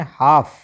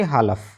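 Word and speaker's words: half: एच ए एल एफ को क्या पढ़ना है हमने? हाफ। ना कि हालफ।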